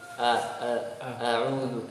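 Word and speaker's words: أعوذ: Bukan a'udzu nah. Kemudian ain diucapkan terlalu mengalir, a'udzu atau a'udzu ya, atau tertahan suaranya, jadi nggak boleh mengalir, nggak boleh tertahan. Tahan a'udzu jadinya mirip hamzah.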